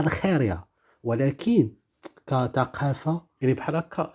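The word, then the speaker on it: Argelia: يعني في الترجمه تاع باللغات كاينه الجيري كذا كذا، ولكن في الاسبانيه ما خاص تقرا الجيريا، خاص تقرا الخيريا.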